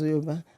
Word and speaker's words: Yoruba: is not Yoruba. Are you okay? It's Yoruba. It's okay. Okay. And my husband is Yoruba, so have no fear. It's Yoruba.